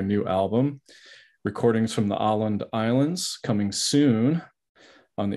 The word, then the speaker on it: Åland: learned so much, but the little accent over the A makes it Åland. Åland. Okay. Yeah, yeah. I wasn't sure the pronunciation, you know. Yeah. Åland.